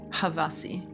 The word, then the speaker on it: Havasi: United States please tune in to havasi it is spelled h a v for Victor a s for sugar I for Ingrid havasi he writes some amazing music and you can